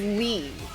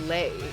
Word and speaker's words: Lei: Alex is not Lee. It's Lei cuz it's Vietnamese. And I only know that because of the YouTuber I watch called Mina Lei. and she's Vietnamese, so it's not pronounced Lee. It's like le, but people don't know that.